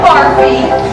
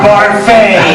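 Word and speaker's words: Barfée: Returning after last season's tragic setback, William Barfy. It's pronounced Barfay. There's an accent aigu.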